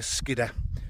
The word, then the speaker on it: Skiddaw: I'm going to be sitting looking over there onto Skiddaw, or as the locals say, Skidder.